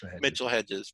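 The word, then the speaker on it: Mitchell-Hedges: a few of them you didn't say the mitchell hedge's skull name properly so that's how it's pronounced mitchell hedges but i knew which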